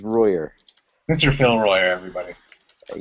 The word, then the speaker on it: Royer: Phil Royer, or is it Royer? Though it is does have French roots, it is Royer.